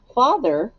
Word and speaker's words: father: the word father a father what makes this a trick word f a well the a makes the o sound V that's the main